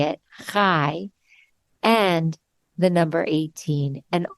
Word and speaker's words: chai: or two times life now I said the word high but you actually say it K and it's spelled like chaii but it has nothing to do with chaii it's spelled c h Ai and a lot of people confuse K with chai te but they're very very